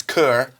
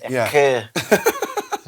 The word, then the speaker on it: cœur: Yes, in French it's cœur. Occurs to me, yeah. Cœur. You just kind of quit on the end of the word. Cœur.